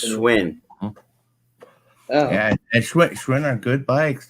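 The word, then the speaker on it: Schwinn: supposed to be uh schwen I think I said that right I don't know if I did or not Schwin it's pronounced swin yeah Schwin are good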